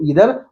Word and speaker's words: either: तो मेरे ख्याल से आपको इदर और नीदर जिसको आइदर और नाइदर भी पढ़ते हैं जिनकी स्पेलिंग होती है इ आई टी एच ई आर आइदर या इदर एन इ आई टी एच ई आर नाइदर या नीदर।